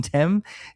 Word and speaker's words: Thames: Is that Mason Thames? So you say his name like the river.